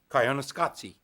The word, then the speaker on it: Koyaanisqatsi: And even the paper doesn't tell you how to pronounce the title. Koyaanisqatsi is a Hopi Indian word.